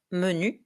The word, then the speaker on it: menu: Next word, menu. This word looks familiar, but the French pronunciation is a bit different.